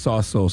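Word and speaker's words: Tsotsos: named philip sausos okay his name is pronounced t-s-o-t-s-o-s and according to uh the how to pronounce thing when you google it it's pronounced saw souls i don't really know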